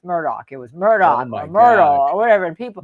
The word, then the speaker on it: Murdaugh: That was trickier because when they told you the right way, it looks wrong because it's spelled so differently. The attorneys were saying the wrong way. Even his attorneys. Right. Jim Harpootlian was saying Murdaugh, and it's Murdoch.